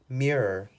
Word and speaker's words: mirror: fish tank number three Mirror Mirror Mirror there are two syllables in this word mirror mirror I don't